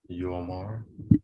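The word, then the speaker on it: יאמר: It's a yo, which is Y, got a dot O. What is it? Yomar.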